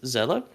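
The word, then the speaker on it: Seele: is spelled s-e-e-l-e and is German for soul which is why it's pronounced that way it's Zella uh they're a mysterious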